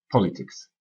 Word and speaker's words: politics: Politics. Politics. L'accent est sur la première syllabe, politics.